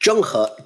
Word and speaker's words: Zheng He: me if I'm wrong is it Jung her is that right Jung Jung that's absolutely right yeah very good absolutely